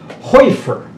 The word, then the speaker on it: Hoefer: 20, after 23 times, our name is pronounced as if the H-O were a W-E. It's Hoefer. Yes, I've heard that.